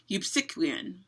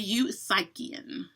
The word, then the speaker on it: Eupsychian: week, I will say I pronounce it one way, and apparently there are lots of other pronunciations. I prefer Eupsychian. That's right, say that 5 times fast. Eupsychian. But most of you apparently like to say Eupsychian. Not my favorite pronunciation.